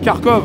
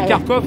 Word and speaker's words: Kharkov: Kharkiv, c'est la façon de prononcer Kharkov, en fait. Il y a Kharkov et Kharkiv. C'est où Kharkiv, ça c'est la version ukrainienne. Non, en Ukraine. Et Kharkov, c'est la version russe.